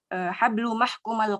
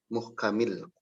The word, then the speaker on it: muhkamil: Fi unuqiha hablu mahkumal qatli min lifin. Sebentar. Fi unuqiha, ya Ustaz. Dibacanya apa? Fi unuqiha hablu mahkumal qatli. Bukan mahkuma ya. Muhkamil qatli. Muhkamil.